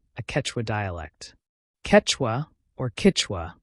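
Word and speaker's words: Kichwa: Ketwa, or Kitwa as it's pronounced locally, was once the language of the Inca Empire and remains in use today in the Andes.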